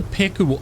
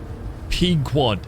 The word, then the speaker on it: Pequod: What's the Pekuwod? Pekuwod. Say it like it's spelled. Pequod. Then how come it isn't spelled P-E-Q-U-A-D?